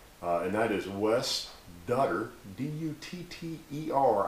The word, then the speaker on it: Dutter: And that is Wes Dutter, D-U-T-T-E-R, I believe is how you say that, Dutter, from Wichita Falls, Texas.